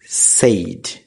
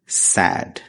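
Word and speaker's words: said: শব্দ দুটির সঠিক উচ্চারণ প্রথম শব্দ সেইড যেটি ভুল উচ্চারণ শুদ্ধ উচ্চারণ স্যাড দ্বিতীয় শব্দ এগেইন যেটি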